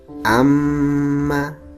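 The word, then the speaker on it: أَمَّا: Seperti contoh, inna, amma. Cara membacanya ditahan. Inna, tidak cukup inna, harus ditahan. Amma, tidak cukup amma, tapi harus ditahan.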